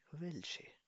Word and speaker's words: Welche: Dann welche? Pronounce with me. Welche? वेल्चे वेल्शे Welche? Welche means कौन सा या कौन सी.